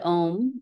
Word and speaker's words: Om: So we'll chant the sound Om one time today. There's always four syllables. Ah, ooh, mm. Fourth syllable is the silence that comes after.